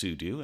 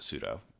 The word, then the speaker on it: sudo: it should be pronounced sudo as it stands for super user do s you do but i pronounce it sudo incorrectly so there we